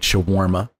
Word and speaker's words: shawarma: an ing it's a it's an anglicization of an Arabic word it's true but um